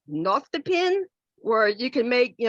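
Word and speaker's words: nostepinne: name oh and this I'm not quite sure how it's pronounced it's spelled n-o-s-t-e-p-i-n-n-e and I think it's pronounced not the pin where you can make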